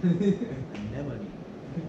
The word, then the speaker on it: anemone: It's one that most people always mispronounce. The what? Anemone.